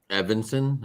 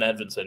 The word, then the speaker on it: Edvinsson: Evanson, is that how you say it? Simon Edvinsson, yep.